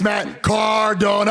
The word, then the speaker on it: Matt Cardona: It's Matt Cardona. I know you grew up in a farm. You're a hillbilly. You can't pronounce it.